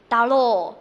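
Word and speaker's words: だろう: 后面这个 RO 是念作ろ，而呃的话呢接在这个 O 的后面是表示一个长音，所以这里拖长发音就可以了。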